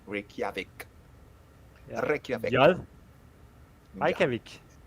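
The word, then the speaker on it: Reykjavík: a little word like tak, like how to pronounce the J, because you say yeah. It's Jal. not the- Yeah, like Reykjavik.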